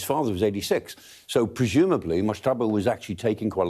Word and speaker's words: Mojtaba: Mojtaba. There you go. You've got much better pronunciation than me.